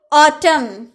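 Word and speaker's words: autumn: दम दम ने बोलते हैं सलीम सलीम इसमें उच्चारण नहीं हुआ गंभीर ऑटम ऑटम यानी की पतझड़ का जो मौसम होता है ना उसे हम ऑटम कहते हैं तो जब भी आपके सेंटेंस में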